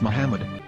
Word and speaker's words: Muhammad: According to Ben Yehuda's Hebrew English Dictionary, it is correctly pronounced as Muhammad.